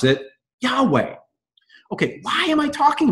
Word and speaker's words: Yahweh: they gave us was the deal ability to pronounce it Yahweh okay why am I talking about this well